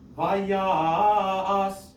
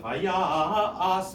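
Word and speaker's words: ויסע: reading around other words, I might actually prolong that ya so that it gets one more musical note, and then do the as as the last syllable as an afterthought kind of thing. Vayas.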